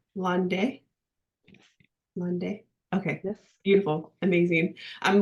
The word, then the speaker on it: Landais: We have Miss Marie Landais, which I was debating whether I was going to try to say her name the right way in French. Correct me if I'm wrong. Landais?